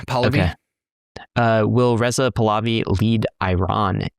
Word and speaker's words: Pahlavi: Reza how do you pronounce Reza's last name? Reza Pahlavi Pahlavi.